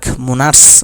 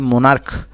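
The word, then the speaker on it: monarch: পেট্রিয়ার্ক, এটাও বা মোনার্স নয়, মোনার্ক, এই কারণে শেষে ক এর মতো উচ্চারণ, তাই শেষে আমরা এস দিচ্ছি।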